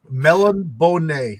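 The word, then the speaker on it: Melniboné: Tony has firsthand knowledge about the pronunciation. Melon Bonnet.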